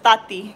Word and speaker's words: Tati: tati you know i i pronounce the t like th my name is tati because that sounds that's not exotic exotic oh they said